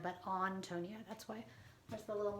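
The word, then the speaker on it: Ántonia: antonia so um not antonia but on tonya that's why there's a little mark there and she's european and so they wouldn't have used the a sound anyway so um the introduction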